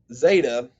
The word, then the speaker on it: zeta: zeta eta and theta so zeta is similar to the um the english z sound um there is a technicality here where you're supposed to pronounce it like a d sound at the roof of your mouth and then end with the z sound so the way you